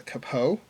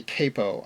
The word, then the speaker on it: capo: a lot of students ask me how I pronounce it this is the capo some people say capo I've heard it both ways but it's not